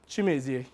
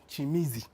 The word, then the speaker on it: Chimezie: Chimezie, it's a pleasure as well. It's Chimezie. What? You see, I was actually correcting him on how to pronounce my name. It's Chimezie, not Chimizi.